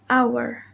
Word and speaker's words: hour: H is not pronounced at the beginning of many words, but remember to use the article an with unvoiced H. Example: hour, honest, honor, air, and earth.